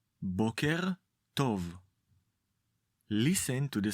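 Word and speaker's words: בוקר טוב: Let’s say it again, try to focus on the stress and the correct pronunciation: bóker tov.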